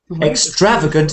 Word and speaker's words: extravagant: am ex EXT extrating extravagant second syllable extravagant extravagant but I am extravagant